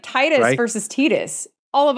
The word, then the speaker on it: Tidus: All of us in the United States would say Tidus. But then later they came out and said that it was Tidus, which is awkward sounding in English, and we'd all been saying it wrong.